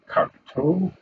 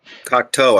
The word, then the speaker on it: Cocteau: Cocteau, I think is how you say that name, by the way.